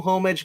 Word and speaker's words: homage: You don't pronounce the H in it. I have you. You ever been on this channel before? I say homage.